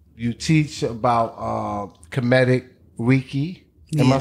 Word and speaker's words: Reiki: You teach about Kemetic Reiki. Am I saying it right? You were right. Reiki, Kemetic Reiki, right?